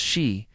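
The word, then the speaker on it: sídhe: The Tuaha Donan used their innate magic to become the she pronounced she today known as the fairies, little people or the we folk.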